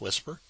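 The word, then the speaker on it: WSPR: It's pronounced whisper wpr.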